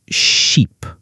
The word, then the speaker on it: sheep: sounds like ship and sheep. Oh, that's a great example. Ship has a short I sound like I. Sheep has a long e sound.